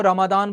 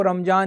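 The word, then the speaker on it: रमज़ान: नहीं सर, रमादान जो word है, प्रोनाउंसिएशन है, वो अरब कंट्रीज में चलता है। इंडिया में प्रोनाउंसिएशन के अकॉर्डिंग जो शब्द है वो रमजान ही सही है।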